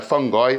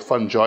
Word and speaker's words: fungi: in the plant kingdom they're fungi or fungi you can pronounce it either way um they have unique